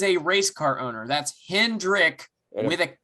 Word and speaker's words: Hendrick: x and x okay there's no s at the end of hendrick it's pronounced rick hendrick anyway that is up